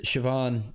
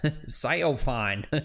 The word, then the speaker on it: Siobhan: F&M plays, we have a friend whose name is Siobhan. Uh, that's always pronounced wrong. Yeah. Scopine.